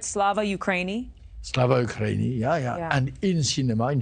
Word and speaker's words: Slava Ukraini: Slava Ukraini, yeah.